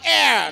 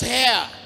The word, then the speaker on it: heir: am blessed I'm an air not hair I'm an air H is silent so can you repeat